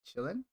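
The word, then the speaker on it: Qilin: how to kill him chillin i think it's pronounced chillin because q i in chinese like it's like yeah it's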